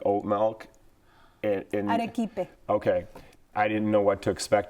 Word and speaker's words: arequipe: Arequipe.